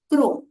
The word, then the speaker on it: chrome: और वैसे ही जो क्रोम शब्द है इसमें सी एच को हम क क से प्रोनाउंस करते हैं, क्रोम।